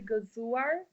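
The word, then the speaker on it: Gëzuar: Um, how do we say it in Albanian? So in Uh, Albanian, you say Gezuar, and Gezuar?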